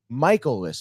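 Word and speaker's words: Miles Mikolas: dish last night against Miles Michaelis, by the way, is how it's pronounced. Michaelis, okay. Which is kind of crazy because I've been pronouncing Michaelis like my entire, and I could have sworn. I could have sworn like that's what I heard.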